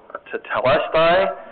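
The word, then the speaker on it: τετέλεσται: in this first sentence, it looks like the word is pronounced tetelestai.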